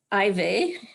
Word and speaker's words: Ivey: Ivey. That's what I'm told how it's supposed to be pronounced.